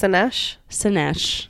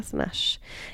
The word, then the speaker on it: Szenes: I can't pronounce her last name again. I already forgot. Szenes. There it is. Or Szenes. Szenes. Hannah Szenes.